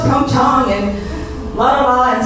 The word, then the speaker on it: PyeongChang: And so that was what was happening, is Americans would say PyeongChang, and Koreans said, no, it's PyeongChang, and blah, blah, blah. And so, well, interestingly enough, NPR was pronouncing it as PyeongChang.